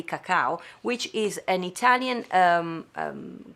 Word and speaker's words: cacao: because you speak british we say in italy cacao which is an italian